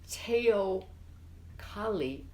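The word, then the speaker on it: teocalli: but she says I need a tail collie I believe it's pronounced but I don't know because that's not all but it the way it's spelled is te OC al Li and it means a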